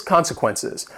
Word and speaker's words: consequences: Next is consequences. This word has 4 syllables and the stress is on that first syllable.